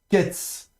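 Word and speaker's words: קֵץ: Et puis vous avez ici la lettre, donc le mot suivant avec un kof, avec le tsere, donc, et le tsadé final. Donc ici ce sera ketz.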